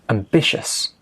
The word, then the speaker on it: ambitious: Ambitious, ambitious. Stress on the second syllable, ambitious.